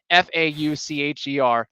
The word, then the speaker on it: Faucher: Look, his name, however you pronounce it, Fauche, I think it rhymes with Fauche, whatever it is. Faucher.